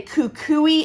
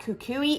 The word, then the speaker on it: Kukui: now I'm questioning myself I'm gonna say Kukui and coconut I'm pretty sure that's correct so I love this fragrance coconut is always a mild chill fragrance but that Kukui is a Hawaiian flower